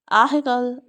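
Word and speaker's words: ethical: हाँ, आपको पता है हम थ नहीं बोलते, ह बोलते हैं। जीभ को दोनों दांतों के बीच में रखते हैं और ऊपर नीचे स्पर्श नहीं करते।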